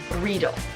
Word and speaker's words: Riedel: But it's like needle, but with an R. Riedel, okay?